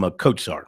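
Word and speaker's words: Kotsar: pronounced Mike and he believe he calls him katar that's how he pronounces the last name k o TS a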